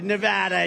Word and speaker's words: Nevada: And you always have to say it correctly. Nevada. You got to call it Nevada.